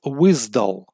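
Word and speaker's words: WSDL: JSON WSP JavaScript object notation to web service protocol pronounced as wisdull very important for soap testing stands for web service description language.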